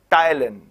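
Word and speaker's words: ptyalin: और उस salivary amylase का दूसरा नाम टायलिन भी है। P is silent. P is silent here. So it is pronounced टायलिन।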